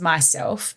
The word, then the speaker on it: Miself: Or my website my brand is Myself, but it's spelt MISELF, Myself.